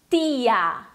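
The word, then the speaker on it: tía: Essa palavra se pronuncia tia. Então é para cuidar para não fazer aquele T nosso do português.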